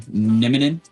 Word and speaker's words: Nieminen: Nieminen, just like Ville Nieminen from the Colorado Avs.